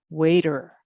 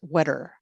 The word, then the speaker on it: waiter: For example, if we said, "Please call the waiter," nobody knows what a waiter is, because the correct pronunciation would be, "Please call the waiter," not wetter.